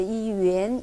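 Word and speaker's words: 元: 근데 위안화? 중국에서는 위안이라고 읽지는 않죠. 유엔 이건데 우리나라를 건너오면서 위안화라고 얘기를 이렇게 굳어버린 것 같아요.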